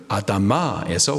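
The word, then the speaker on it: אֲדָמָה: 흙의 히브리식 발음이 아다마입니다. 그 흙으로 지어진 최초의 사람이 아담이죠. 아담의 이름은 흑. 아다마에서 왔다.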